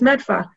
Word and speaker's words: Medford: the boston accent or how we pronounce some of our cities and towns one of my favorites to say is medfa other than that i thought the video was wicked pissa you mean medford no matter and that